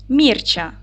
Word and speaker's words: Мірча: цих слів Давайте перевіримо Мірча ділимо на склади наголос падає на перший склад так таку має схему